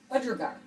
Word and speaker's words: budgerigar: Alright, so that's how you pronounce this bird. Budgerigar.